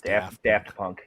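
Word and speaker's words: Daft Punk: there don't you all is it Daft or is it do technically I think it's either is it for pokon pronunciations I think it's da Punk yeah it's da punk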